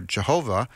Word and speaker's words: Jehovah: And so whether you pronounce it Yahweh or Jehovah, that's where we get